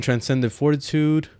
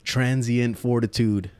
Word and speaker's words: Transient Fortitude: Or transient fortitude, let me say it right, because I've been saying it wrong for the past, like, I don't even know how many videos I've done on Warframe, but transient fortitude. There, I said it right.